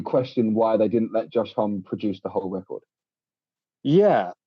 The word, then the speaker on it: Homme: It's Homme. I've always said Josh Homme. Yeah, I've heard some people say Home, and I'm like, that doesn't sound right.